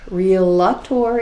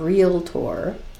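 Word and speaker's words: Realtor: property associated with it agent is aware that real lot tour is not the correct spelling or pronunciation of real tour very important because it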